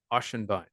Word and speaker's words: Ochsenbein: to screw it up so I you to pronounce it for me it's a doozy it's a ashenbein well thank you have a good one you